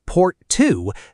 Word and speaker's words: Porto: Four years later, at a summit in the coastal city of Porto, pronounced Port Two, that promise became a number, a very specific one.